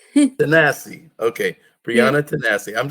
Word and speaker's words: Tanase: Now pronounce it if I'm right. Tanase? Tanase. Tanase.